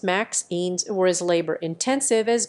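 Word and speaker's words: MXenes: materials are known as mzines pronounce maxines or is labor intensive as good quasas mzines were discovered in 2011.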